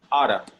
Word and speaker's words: ought to: Ought to is the same thing as should, but it's more formal. Okay? Okay. And sometimes they don't say, they don't pronounce it ought to, they pronounce it oughta.